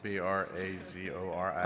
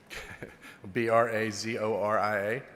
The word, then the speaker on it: Brazoria: How do you spell that? B R A Z O R I A. I'm sorry, I can't hear you, sir. B R A Z O R I A.